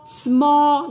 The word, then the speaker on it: small: o là gì small small đúng không thường là các bạn phát âm là small nhưng các bạn nuốt của cô Viet âm L âm âm quấy âm L Ok nào và nhớ